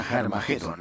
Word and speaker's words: Har Magedón: De hecho, en las primeras versiones del Nuevo Testamento escritas en griego, Armagedón tiene una aspirada al principio, que significa que se pronuncia con H inicial. Por tanto, originariamente era Har Magedón, y podemos pasar de Har Megido a Armagedón muy fácilmente.